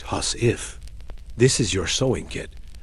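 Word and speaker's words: huswife: You reach for your husie, pronounced hus if.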